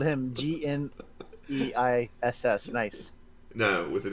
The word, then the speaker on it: gneiss: Nice. No, with an E at the end. Nice. GNISSE, because that's how you spell that word.